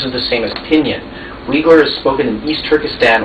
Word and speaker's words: Uyghur: Uyghur.